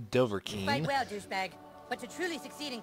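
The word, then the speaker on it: Dovahkiin: point am i a doverkin i know i've butchered that it's doverking but to truly succeed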